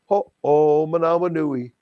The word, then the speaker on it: Ho'omanawanui: He says, Michael Ho'omanawanui. Ho'omanawanui. God, that makes it so easy, Michael Ho'omanawanui.